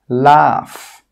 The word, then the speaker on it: laugh: Some common examples are cough, laugh, tough. In all of these words, that GH sound is pronounced as an F sound, as a F sound.